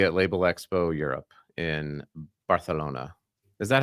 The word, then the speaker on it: Barcelona: September, I will be at Label Expo Europe in Barcelona.